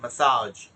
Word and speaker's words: massage: আমরা এটাকে মেসেজ বলে ফেলি, এটা মেসেজ না, বডি মেসেজ, এটা হচ্ছে ম্যাসাজ।